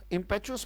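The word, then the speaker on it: impetuous: विशेष रूप से राइट इंपैट्यूअस मैंने जल्दबाजी में किया गया कोई कम वो इंपैक्ट्स होता है क्या पढ़ा जाएगा इसका उच्चारण है इंपैट्यूअस अगर जैसे इंपैट्यूअस डिसीजन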